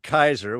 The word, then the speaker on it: Caesar: They don't know how to pronounce Caesar, so they pronounce it Kaiser, which makes it sounds